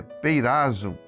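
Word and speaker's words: πειράζω: É bom lembrar que a palavra tentação, no grego, que é onde os evangelhos foram escritos, nessa linguagem, tem a palavra, a pronúncia é peirazo, que significa fazer um teste, uma experiência, colocar algo à prova para ver como se comporta.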